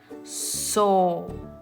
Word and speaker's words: sopera: Sopera, sopera. Está entre dos vocales y de igual manera tiene un sonido débil.